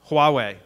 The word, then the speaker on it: Huawei: so say there was a zixil or a Huawei router I think that's how you pronounce that that had that you knew had some what is it Huawei thank you a Huawei router that had some